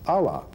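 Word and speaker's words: אלה: of this word curse, which again is Aleph Lamet He, pronounced Allah.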